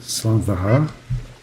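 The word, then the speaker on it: slàinte mhath: I believe it's pronounced Slan Vahar.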